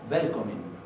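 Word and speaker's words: Velkomin: Pero en este caso, no. Hay algunas irregularidades en la pronunciación del islandés, entonces uno tiene que verlas en contexto, en la práctica. Esto lo van a escuchar como Välkommen.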